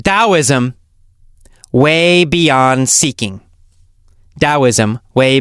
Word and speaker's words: Taoism: it wrong and I don't know anyway it's pronounced dosm and the book is called dosm Way Beyond seeking dosm Way Beyond seeking by